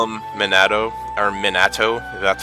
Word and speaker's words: Minato: of me wants to call him Minato or Minato that's how you pronounce it cuz that's that's what that's what